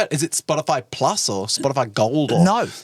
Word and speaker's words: Spotify: it Spotify Plus or Spotify gold or no it's spotter fly spot spotif you're not saying it right Matt it's pronounced Spotify Spotify no it's spotifly it's like a place